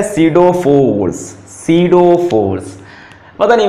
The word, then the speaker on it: pseudo: अब सीडो force, P silent है, सीडो force होती है